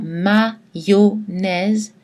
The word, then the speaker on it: mayonnaise: Mais on prononce aïe dans mayonnaise, cobaye, bayonne.